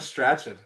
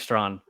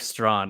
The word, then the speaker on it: Strachan: How about Michael Strachan? Yeah, it's Mike Strawn. How what's his name? Mike Strawn. It's pronounced Strawn. Oh, it's not that you don't say the ch.